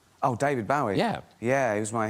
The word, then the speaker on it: Bowie: My name's David Bowie.